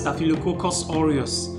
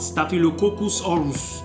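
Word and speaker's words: Staphylococcus aureus: you are talking and by the way it's pronounced stail Cocos oros not stail cus orus or whatever it is that they call it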